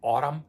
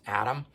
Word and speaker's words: Atum: later after um Adam spelled a t u M so I kind of sometimes want to say autumn but it's actually pronounced Adam anyway this one here